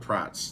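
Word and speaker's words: Prattes: Anyway, oh well, Colt Pratt's. That's another name. Watch him come on here and be like, you don't pronounce the S. Right? It's Pratt. Pratt.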